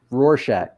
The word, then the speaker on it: Rorschach: out thank you patty rorsack is is rhymes with horse shack rorschach what's funny is i